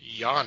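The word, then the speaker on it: Yonna: west road trip with with a witch named yana i believe that's how you pronounce it y-o-n-n-a and apparently she's being hunted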